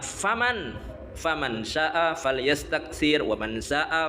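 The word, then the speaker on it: فمن: Fim di dalam orang itu bukan fiman bacanya, yang benar faman syaa falyastaksir wa man syaa falyastaqlil wassalatu khairun kulluha.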